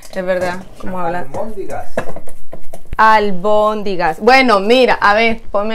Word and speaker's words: albóndigas: Y no se dice almóndigas, se dice albóndigas.